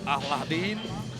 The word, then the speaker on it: Aladin: and this is Aladin there is a way to pronounce his name I broke it up the two Sil Al and de Aladin Salem Aladin gets Lebanon